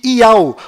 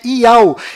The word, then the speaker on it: Iau: enviado do Criador, pois o nome do Criador é Iau, e a última letra do seu nome tem som de H mudo, do qual não altera a pronúncia deste nome.